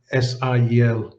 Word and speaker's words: SIEL: I remember our former president, Gabriel Marceau, used to say, SIEL means heaven, and I will therefore continue to pronounce the SIEL acronym in the French way.